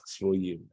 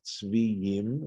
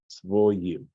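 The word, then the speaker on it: צבויים: This is a Tiv-Kri situation where it looks like Tzviyim, right, the way it's spelled, but we're being told here in this Masoretic note that that's to be pronounced as Tzvoyim.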